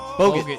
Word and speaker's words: Bogut: How do you pronounce his name? Bogut.